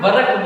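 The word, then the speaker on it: work: अब दोस्तों ये वर्क जो है इसको अपने क्या बोलते हैं, वर्क बोलते हैं, क्या बोलते हैं, वर्क बोलते हैं। इसमें दोस्तों ये आर साइलेंट रहता है, यू विल हैव टू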